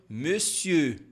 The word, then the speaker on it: monsieur: a palavra senhor falando monsieur monsieur por mais que nós temos aqui esse mon a gente não pode falar mon a gente fala me é como se fosse esse biquinho aqui ó me si como é que eu